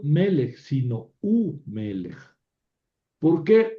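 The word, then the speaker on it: וּמֶלֶךְ: En vez de v melech, u melech. Es decir, la v con sheva se convirtió en shurek, u melech, ¿verdad? Sigue conservando valor consonántico, ¿verdad? Pero se le considera una sílaba aparte. U melech. U melech. Ben más b quiere decir hijo, ¿verdad? Ben es hijo. Y si yo digo y un hijo, v ben, ven que está complicada la pronunciación, v ben, entonces esta consonante se convierte en shurek, u ben, y aquí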